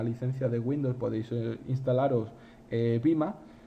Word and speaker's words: vMA: de Windows, podéis instalaros Vima. Vima se escribe VMA y es una appliance también de nuevo de VMware para poder gestionar las infraestructuras de vSphere.